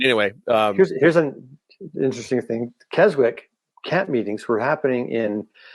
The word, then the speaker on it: Keswick: Wesleyan tradition, from Keswick, which I think in Europe they pronounce it completely different, by the way, not Keswick. Did you know that? How do you pronounce it? I always say Keswick, but I just know that when I'm in England, they're like, "Oh, it's actually Keswick."